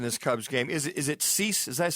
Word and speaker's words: Cease: Is it Cease? Does that say his name? Yeah, Cease?